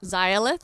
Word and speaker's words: Xayalith: I'm like, my last name is pronounced Zilith, and it's a LA word for victory.